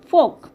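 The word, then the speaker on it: folk: গেলে কিরকম হয় যেরকম ফোক এফ ও এল কে এখানে কিন্তু এল সাইলেন্ট থাকে।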